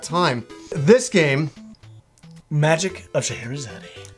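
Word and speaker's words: Scheherazade: game magic of shahadi I got him to pronounce it cuz I keep I over the years I've always it up I always the magic of sherad you know and I'm like no no that's not how you pronounce it but this is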